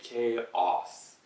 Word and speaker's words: chaos: 근데 맞는 발음은 케이오스. 그래서 K, Korea 쓸때 K로 시작하는 단어 있잖아요. K로 시작하는 그 알파벳, 그 단어, 그 글자. K라고 발음을 하시고, 그 다음에 chaos. 그리고 두 번째 음절도 O는 아니에요. 장음 O, chaos는 아니에요. chaos. So K, K-A-Y처럼 그 이름 있잖아요. 여자 이름 K. 그거는 먼저 발음을 하시고, K, 그 다음에 어, AWE, 어, 있잖아요. 신기함, 어, 스, chaos, chaos.